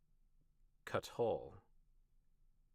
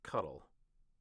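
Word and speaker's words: kathal: Cut. Cut. The accent's on the first. Cut. Cut. Not cuddle.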